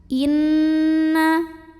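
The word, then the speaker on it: إِنَّ: Inna di sini ada hukum gunnah musyaddadah karena ada nun yang bertasydid. Cara membacanya dengung. Bunyi N-nya tahan sampai ada getaran halus ke hidung kurang lebih 2 harokat.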